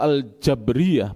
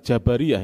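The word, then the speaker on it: الجبرية: Namun ekstrim kanan ini yaitu kelompok al-jabriyah, bukan jabariyah ya. Al-jabriyah, cara pengucapannya tolong dibenarkan, bukan jabariyah, itu istilah dalam bahasa Indonesia. Jadi Arabnya al-jabriyah, baknya disukun.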